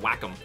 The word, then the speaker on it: Wacom: I'm drawing with a wake wake them Wacom it's actually supposed to be pronounced with Wacom I'm gonna control 0